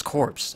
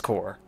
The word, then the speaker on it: Corps: I always read his corpse and I know it's core but it could be corpse because it's non origins okay no the pronunciation is core it's always this -